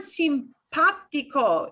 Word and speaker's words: simpático: That little accent mark does not change the way the ah sounds. It just means you put more punch, more emphasis on the ah sound. You punch that syllable more than the other 2, okay?